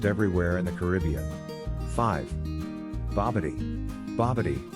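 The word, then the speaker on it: bobotie: be seen almost everywhere in the caribbean five bobity babadi pronounced bob orti is south africa's national cuisine consisting of curried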